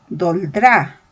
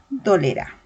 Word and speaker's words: dolerá: Es incorrecto si yo digo doldrá. Lo correcto sería decir dolerá.